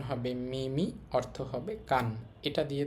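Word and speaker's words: 耳: কানের আকৃতির সাথে মোটামুটি মিল আছে এবং এটার উচ্চারণ হবে মিমি আর জি আমাদের পরবর্তী কাঞ্জিটা হচ্ছে হাতের কাঞ্জি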